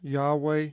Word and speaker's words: Yahweh: English as Lord and pronounced by some as Yahweh and Jehovah contains the yo-dee-hey and